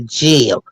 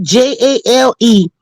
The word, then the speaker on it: jail: Y'all going to jail. Yep. Y'all got Not me fired from my JAIL, job. not JALE, jail. She pronouncing it like GEL, like hair gel.